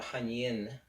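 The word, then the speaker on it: Hui Yin: spot, it's called the Hanyin spot. It's not spelled like that. It's spelled H-U-I, but it's pronounced Han-Yin, Y-I-N.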